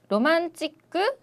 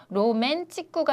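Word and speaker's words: ロマンチック: 단어를 한국어에서 로맨틱이니까 일본어로도 로맨치쿠가 아닐까라고 생각을 하시는데 꼭 주의하셔야 되는 게 일본인들은 영어 철자 그대로 발음을 하죠. 그래서 왜 여기가 만이 됐냐면은 그 다음에 나오는 게 MAN이기 때문에 로메가 아니고 로만이 되는 거죠.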